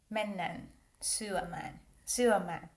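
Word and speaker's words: mennään syömään: Like in Finland, you have to say mennan, suaman.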